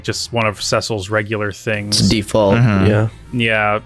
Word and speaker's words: Cecil: calling cile oh oh no I call him Cil Cil is how it's supposed to be pronounced like they they say that in desidia